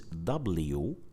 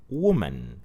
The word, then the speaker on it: woman: So as you could see, the letter O is pronounced as the short vowel sound O. So we say woman. We don't say woman. We don't say it like that. We say it shortly.